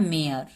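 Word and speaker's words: mare: ई का कोई उच्चारण नहीं होगा, ई साइलेंट होगा।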